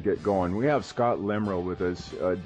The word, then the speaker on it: Lemriel: We have Scott Lemriel with us. I did pronounce that right, Lemriel? Yes, Lemriel.